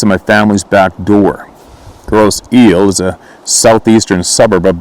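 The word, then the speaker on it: Grosse Ile: Pronunciation, gross eel.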